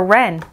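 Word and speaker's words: wren: to write a note w is for ren again silent w and the ren wrapped again sounds like there's no w rabbit's gift in red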